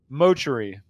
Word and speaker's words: Motree: He said, please tell chat I love them all for coming out tonight, and please tell them it's pronounced Motree. He phonetically spelled it out for me.